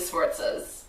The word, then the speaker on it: Sforza: And then I'm also doing the Sforzas, who were also awesome. Is that how you pronounce it? Yeah. I've never known. Sforza.